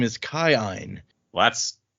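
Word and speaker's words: Kiin: double I which is pronounced according to the pronunciation key as I I. So his name is Kine. Well that's not confusing at all. Yeah I'm just going to say Keen is how I say it too.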